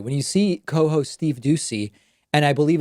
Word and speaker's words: Doocy: the entire time when you see Steve deucey deucey I always have to be careful to pronounce it correctly when you see co-hosts Steve Doocy and I believe it's Ainsley Earhardt they don't